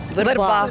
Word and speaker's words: верба: От зараз і вивчимо спершу розберемо слово верба тут мене Усі порадували знали що правильно саме верба Ну майже всі А